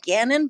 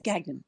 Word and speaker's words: Gagnon: just introduce her Caitlyn Gagnon right it's not the French pronunciation pointed out to me